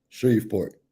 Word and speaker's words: Shreveport: Shreveport.